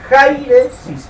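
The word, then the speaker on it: αἵρεσις: ese término griego es jairesis, con J. Ja con acento en la A, jairesis, así como suena.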